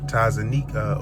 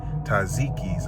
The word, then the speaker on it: Taziki's: So, I just tapped in with Tazanika, or should I say Taziki. I'm still learning how to pronounce that Taziki's Mediterranean Cafe.